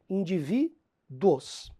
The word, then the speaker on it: indivíduos: sílaba forte dos individos esse indivíduos é um vocábulo terminado em ditongo indivíduos Felipe mas não é indivíduos não é se você pronunciar naturalmente vai ser um de tongo porque tudo na mesma sílaba tá comparem com individual